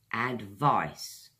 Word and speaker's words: advice: with meanings and examples in British English okay advice to syllables guys and vise easy way to remember